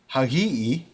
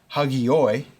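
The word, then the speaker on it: ἅγιοι: Hagios, hagiu, hagio, hagion, hagii, hagion, hagiis, hagius. That's using a modern pronunciation. Using Erasmian, hagios, hagiu, hagio, hagion, hagioi, hagion, hagiois, hagius.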